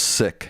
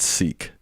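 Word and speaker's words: Sikh: Someone just said it is pronounced sick, not seek.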